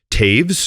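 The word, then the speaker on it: Toews: And I've seen Brandon Taves, which never would have guessed that's how you pronounce his last name until you told me.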